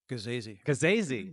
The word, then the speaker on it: Gasazi: Gasazi. I've been saying it wrong all this time. Rhymes with crazy.